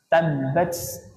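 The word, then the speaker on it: تبت: nya jangan sampai banyak-banyak kalau banyak-banyak jadinya seperti Sin tabbat tabbat nah padahal ini huruf ta yang seharusnya dibaca tabbat tabbat ya tabbat Nah kalau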